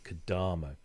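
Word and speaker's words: Kodamo: right you know the the emphasis is always on the penultimate syllable so it's kadamo so that's what we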